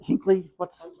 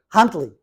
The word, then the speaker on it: Huntley: If you were to go to, I keep getting the name wrong, not Hinkley, Huntley.